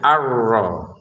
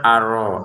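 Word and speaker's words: الرَّحْمَٰنِ: Kemudian rnya kita tekan ya, arro. Jangan sekedar aro. Aro. Arrah ha-nya jangan sampai ada e seperti tadi ya. Arrahmani. Jangan arrahma. Rahma dibuang itu dibuang itu jadi biang ketidaklancaran itu ya.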